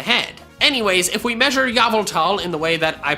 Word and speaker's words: Yveltal: For the uninitiated, we pronounce Yveltal as Yveltal and Arceus as Arceus here on this channel.